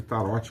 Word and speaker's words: Tarote: É o canal Tarô e Magias do Mago, se escreve Tarote com T mudo, tá?